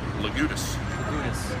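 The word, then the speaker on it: Legoudes: name is l-e-g-o-u-d-e-s how do you pronounce that lagoodus yes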